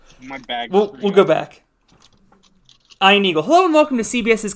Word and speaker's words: Ian Eagle: Yeah, it's pronounced Ian Eagle.